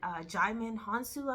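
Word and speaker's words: Djimon Hounsou: I don't know if years ago in 1997 when it came out, If you saw that movie with Jaimin Hansu, I believe that's how you pronounce his name, is Djimon.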